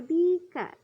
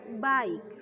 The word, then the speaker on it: bike: Bike itu tulisannya bika, bacanya bike sepeda.